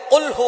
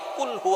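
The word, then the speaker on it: قل هو: আল্লাহ পাক রাব্বুল আলামীন এখানে বলছেন কুলহু আল্লাহু আহাদ। এখানে কফ দিয়ে পড়ছেন কিন্তু অনেকেই ভুল করে উচ্চারণ সঠিক না হওয়ার কারণে তারা পড়ে কাফ। কুলহু আল্লাহ।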